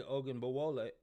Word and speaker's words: Ogunbowale: And what's really cool about this is Dari Ogunbowale.